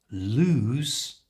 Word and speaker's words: lose: sound in the middle however lose which means to misplace something you don't know where it is has a z sound loose you try and